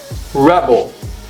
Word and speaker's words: rebel: let's look together okay when it's a noun it's Rebel of course the stress is on the first syllable it's Rebel okay which